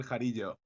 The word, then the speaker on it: Jarillo: Hi there, my name is Jarillo.